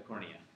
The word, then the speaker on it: cornea: It rhymes with retina, but it's a little bit cornier than the retina. The cornea? The cornea, yeah.